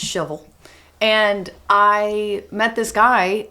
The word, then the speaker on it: Shelbyville: From Shelbyville, and pronounced shovel.